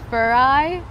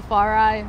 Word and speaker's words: Farai: So first question, how the fuck do you pronounce your name? I get that a lot. It's Farai, but people always call me Farai.